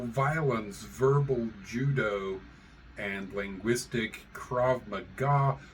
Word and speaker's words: Krav Maga: Verbal Judo and linguistic Krav Maga which I'm going to do everything in my power not to pronounce as KV magga uh it is just